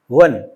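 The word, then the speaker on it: one: लेकिन जब इसका प्रोनाउन करते हैं प्रोनंसिएशन के बाद यहां पर आप चेक करेंगे तो व आ रहा है। वाह वन तो वन आ रहा है तो इसका मतलब ए आएगा।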